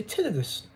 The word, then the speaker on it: tinnitus: recover from tinnitus slash tinnitus the reason why i say it like this is because i say tinnitus but some of the british people will say to this i'm sure rob says tinnitus the brits i love